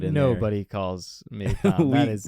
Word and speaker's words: Thom: So his name is spelled T-H-O-M. Yes, it is. And there's no, I mean, you could do the A-S at the end, but it's T-H-O-M. So we call him Thom.